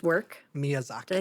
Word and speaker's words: Miyazaki: a big theme in uh in is it Mizyaki's work? Miyazaki.